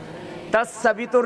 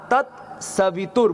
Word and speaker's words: तत्सवितुर्: बोलिए ओम भूर तत्सवितुर्वरेण्यं तस वितु नहीं तत्त ता आधा तत सवित बोलो त स वितु नहीं